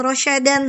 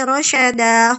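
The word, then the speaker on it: رَشَدًا: Dibacanya bukan rasyadan, tapi rasyadah.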